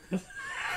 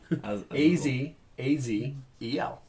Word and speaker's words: Azazel: Can I just tell you it's Azazel? Azazel. A-Z-A-Z-E-L. A-Z-A-Z-E-L? A-Z-A-Z-E-L. Man, use a sizzle, use a roaring flame. Azazel. Yes, some people do pronounce it that way, and it's wrong, but it's acceptable.